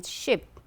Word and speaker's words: ship: You can see the I with the colon here, as in double E, sheep, and then you have just single I, ship, double O here, good, good, right.